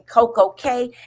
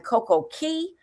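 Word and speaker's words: Coco Cay: different t TVs and you're saying Coco K and I'm from BISE and over there K is spelled K. So you're going to Coco Key."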